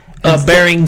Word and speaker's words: Bering: Bering Sea. Bering Sea.